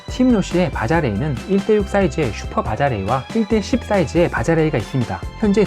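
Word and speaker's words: Baja Rey: 원래 발음은 바하레이가 맞지만 편의상 바자레이로 할게요. 팀노시의 바자레이는 1:6 사이즈의 슈퍼 바자레이와 1:10 사이즈의 바자레이가 있습니다.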